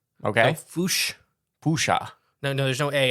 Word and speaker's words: fossa: they pronounce it like fousa okay the double o sound with an a at the end okay um they're extremely